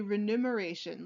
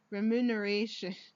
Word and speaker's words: remuneration: the other day I I always had the problem trying to pronounce the word remin oration because my brain always wants to see renumeration like numeration like numbers but that's not the words it's reminisce remuneration and